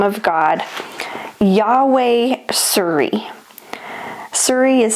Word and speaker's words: Tsuri: Suri is spelled T S U R I, Yahweh Siri, and it means the Lord is my rock.